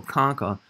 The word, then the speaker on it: concha: concho looks like concha it's usually pronounced like a k so conca singular concha plural conchi